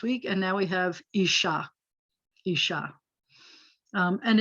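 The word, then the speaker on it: אשה: syllable which is typical isha by the way accents on the last syllable bahema so behemoth is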